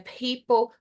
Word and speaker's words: people: Your public speaking, lembrando que aí o P no inglês tem essa pequena explosão, né? People, public, right?